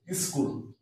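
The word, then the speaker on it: school: এইচ ও সি এর পরে এস সি এইচ উচ্চারণটা হচ্ছে না ইকো স্কুল সি এইচ ডব্লিউ স্কুল তাছাড়াও ডব্লিউ এইচ ওয়ার্ড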